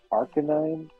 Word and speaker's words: Arcanine: people call pidet Arcanine is it pronounced Arcanine it's Arcanine but it should be really arc9 but some of them break the rules of honestly really like English